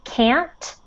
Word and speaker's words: can't: antonio really tried to when you're saying can't try to make the final sound really strong because otherwise it sounds like you're saying you can which is the opposite so you can't pronounce the the final t okay so pronounce that final t you can't count on